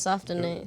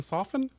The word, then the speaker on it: soften: I didn't want Yeah, you're trying to soften it. Nobody wants to go home to that having sat around and festered all day and she's angry. Did you hard pronounce the T in soften?